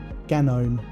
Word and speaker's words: GNOME: Ganome. Gnome. Everyone has opinions. 100%. Most of them are wrong. Hang on. It's gnome, gnome, gnome, gnome, gnome, gnome, gnome, gnome, gnome, gnome, gnome, gnome.